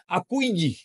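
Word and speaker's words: accueillir: এই দেখেন উচ্চারণ দেখেন, আকুইয়ে, হ্যাঁ দেখছেন এই ডাবল এল উচ্চারণ হবে না কিন্তু, আকুইয়ে কেলকা, গ্রিটিং সামবডি, কাউকে সম্ভাষণ জানানো।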